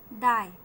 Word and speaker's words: thy: डाई, डाई THY, डाई means तेरा। यहाँ पे देखें ये थीटा टाइप का आपको मिला है, ये इसका उच्चारण है दा। TH वाला दा इससे बन रहा है, ये गोल ऐसा है, ऊपर ऐसा क्रॉस लगा हुआ है। दा आ ई, दाई।